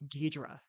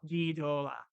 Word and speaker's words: Ghidorah: I believe, is they like Ghidra. Ghidra. Ghidra. But the Japanese characters, though, is the way you're pronouncing it. Oh, Ghidorah. Ghidorah. Yeah, Ghidorah, Ghidorah, Ghidorah. Oh, Uh, interesting. You got to roll your R's.